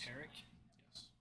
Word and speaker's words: Tariq: Tariq. Ter. Eric. like Derek. Yes, Derek.